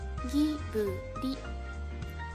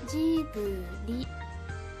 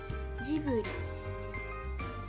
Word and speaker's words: Ghibli: a very hard G, Ghibli, Ghibli. The Japanese pronunciation of the studio's name is with a soft G, Ghibli, Ghibli.